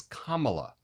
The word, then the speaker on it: Kamala: to say the name it's Kamala it's not hard just think Kama right comma um rhymes with mamala